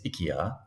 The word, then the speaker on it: IKEA: you know strange enough in Swedish to actually pronounce Ikea is ikia that's completely random something